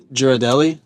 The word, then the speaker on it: Ghirardelli: Ghirardelli.